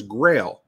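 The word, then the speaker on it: Grayl: Close, it was Grail, but it's spelled G-R-A-Y-L, and it is an awesome water filter.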